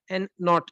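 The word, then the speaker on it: N₀: zero बनाता हू य zero जो है ना ये नॉट प्रोनाउंस होता है ए नॉट छोटा जीरो ये कहलाता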